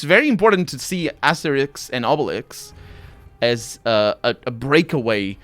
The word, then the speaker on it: Asterix: necessarily um ideology context asterix and obelisk aesthetics and obelisk i'm pronouncing it wrong actually because it's asteri right the the x at the end doesn't you don't say the x right i pronounce it